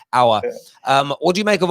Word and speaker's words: Aouar: It's Aouar. Sorry, I'm going to get that right. I'm going to hours in like hour class. Aouar.